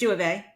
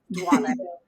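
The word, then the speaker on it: Duavee: I am on it, and I use the French pronunciation of it, Duave.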